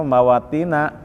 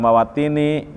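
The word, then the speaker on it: مواطن: Nah, karena ghair munsharif, wajan mafaila meskipun pakai fi dibacanya mawatina ya, tidak mawatini karena wajan mafaila.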